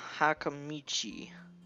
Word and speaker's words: Hakamichi: You can work with Hakamichi. She is the class representative. What? No, you pronounced it right.